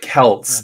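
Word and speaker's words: Celt: for so many years no you're pronoun you're pronouncing it the normal English way but with Kelts it's uh like and even in mod even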